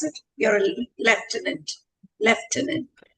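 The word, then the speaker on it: Lieutenant: So what are the highlights that you would like me to introduce that you're a how do I pronounce it? You're a left tenant.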